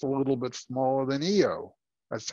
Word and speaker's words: Io: moon is just a little bit smaller than eo that's how that's pronounced by the way so uh let's take